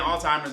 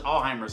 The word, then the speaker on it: Alzheimer's: Somebody corrected me for saying Alzheimer's, and they was like, no, it's Alzheimer's.